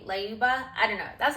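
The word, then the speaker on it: Lyuba: I'll put the names on the screen just so you can see how they're actually spelled, but I think it's pronounced Leuba. It's L Y U B A Leuba.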